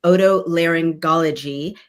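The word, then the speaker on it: otolaryngology: Uh, she's a highly skilled senior fellow specializing in odto langology. Am I pronouncing that correctly?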